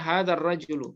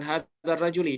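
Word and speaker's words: هذا الرجلُ: Nah, bacanya hadzar rajulu, bukan hadzar rajuli.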